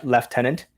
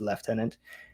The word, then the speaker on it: lieutenant: It's also pronounced uh left tenant and neighbor has a U in it. What? Never heard these. Yeah, it's a it's a British thing. Uh, it's spelled lieutenant, but it's pronounced left tenant.